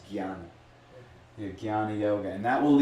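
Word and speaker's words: jnana: on Gana Gana yoga spell J well it's pronounced g y a n a Gana but it's it's actually in a lot of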